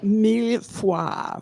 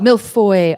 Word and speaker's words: millefeuille: My pronunciation will be terrible. That's okay. Mille-fois. Good job. Millefeuille, also known as a Millefeuille.